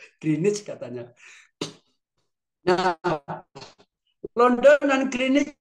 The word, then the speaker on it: Greenwich: Inggris Bu Green BAP bacanya Greenwich apa green Bu katanya kalau bacanya Greenwich masih kursus bahasa Inggris lagi yaahah sayaaca supayak suruh Kursus lagi greenich katanya nah London dan